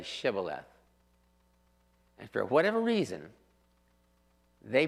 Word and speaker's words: Shibboleth: But when you pronounce them, when you pronounce the letters, you do pronounce one with a sh and the other with a s.